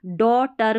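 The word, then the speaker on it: daughter: तो ये जी H silent है और ये जो ए यू है ना इसको अ पढ़ा है इसलिए डी ए यू तो ओ बन गया और जी एच को आपको याद रखना है ये साइलेंट है तो डी ए यू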